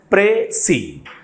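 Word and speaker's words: précis: should pronounce it as pre C pre C is the pronunciation of this particular word and the final s is silent here okay so what we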